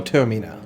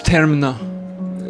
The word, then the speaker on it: Terina: to call on uh Senor termina it's Terina what is your business